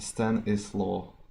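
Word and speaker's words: Stanisław: It kind of sounds like coleslaw, you know, but it's Stanislaw.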